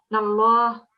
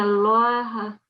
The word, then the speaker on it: الله: Not stretch, but you have to pronounce that with a fuller mouth. So you round it off a bit because this is the Lam al-Jalala, because it's preceded by a fatha. And whenever we have a fatha before the Lam al-Jalala, you would pronounce it as Allah.